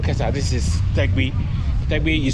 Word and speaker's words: Tegbi: Tegbi, you spell it T-E-G-B-I.